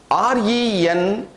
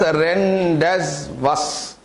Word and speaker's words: rendezvous: popular word in English, RENDEZVOUS. If you split it into syllables, it is expected to be pronounced as RENDEZVOUS. RENDEZVOUS. But the pronunciation of this word is rendezvous. RENDEZVOUS is pronounced as a rendezvous.